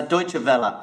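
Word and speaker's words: Deutsche Welle: com but you'll probably tell us the correct pronunciation of the actual of the actual company yeah it's a deutsche bella so it's germany's public broadcaster i mainly focus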